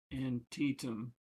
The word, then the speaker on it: Antietam: It's pronouncing Antietam wrong. It's Antietam.